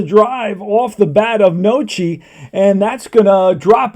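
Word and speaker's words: Noce: hav't not checked out his name how to pronounce his name okay it is Paul noi I write that down on the card Paul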